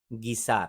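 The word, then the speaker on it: guisar: तो इसका लफ्ज मानी है, सॉरी इसकी प्रोनाउंसिएशन है गीसार।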